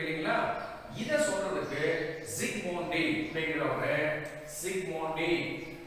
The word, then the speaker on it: Zsigmondy: இதை சொல்றதுக்கு Zsigmondy அப்படிங்கிறவங்க, Zsigmondy இத வந்து Z முன்னாடி Z சைலண்டா ப்ரொனவுன்ஸ் பண்றோம் அப்படிங்கிறவர் வந்து கோல்ட் நம்பர் அப்படிங்கிற ஒரு நம்பரை இன்ட்ரோ듀ஸ் பண்ணிருக்காரு.